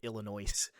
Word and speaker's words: Illinois: And thank you for not pronouncing the S. I' genuinely like No, I I've I've never met like anyone that seriously pronounced it Illinois.